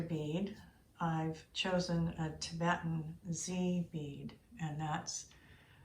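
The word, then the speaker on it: dzi: as a master bead i've chosen a tibetan z bead and that's spelled d z i which is known for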